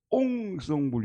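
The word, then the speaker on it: ensemble: 이건 우리식의 표현이고 옹성불 이렇게 발음하더라고요. 이게 앙상블이라는 말이 딱 들으니까 최고의 번역이라는 생각이 다가오는 거예요. 야, 어떻게 이렇게 번역이 될 수 있을까? 앙상블.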